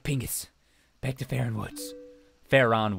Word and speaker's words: Faron: back to Faron woods fair on woods I guess I'm probably how I would pronounce it not faring fair on why does she just